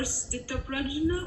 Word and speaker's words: sthita prajna: a sentence, so people who are sthita prajna, is that how you say it? That's right.